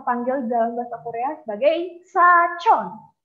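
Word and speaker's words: 사촌: Sachon, bukan samchon. Wah, kok kayaknya kedengarannya sama nih, Sam. Kok kayak sachon, samchon. Kayaknya nggak ada bedanya nih. Sachon, yeo, sachon. Sachon itu adalah sepupu. Kalau samchon nanti jadi om.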